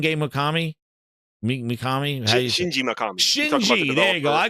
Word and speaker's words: Shinji Mikami: I always say his name wrong. Everybody, yo, I got Kofi here. Is it Shinge Mikami? Mikami? Shinji Mikami.